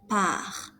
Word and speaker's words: part: Je pars, tu pars, il, elle part. S, S, T are mute. You do not pronounce them.